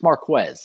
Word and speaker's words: Marquez: for him he's been very adamant about people pronouncing his name correctly it's marquez if you can't get that right just call